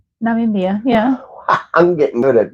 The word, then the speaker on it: Namibia: Namibia, yeah.